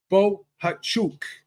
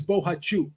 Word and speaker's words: Bohachuk: Gail on the round table said his name is Bohachuk. That's how it's pronounced. I guess he yelled at someone was interviewing him and he said, "My name is Bohachuk."